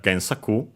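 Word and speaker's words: 原作: In this case, before it, we have Gensaku, which is a Chinese compound, unaccented, luckily, as expected.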